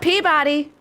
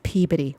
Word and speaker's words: Peabody: It's not Peabody. It's Peabody. Why?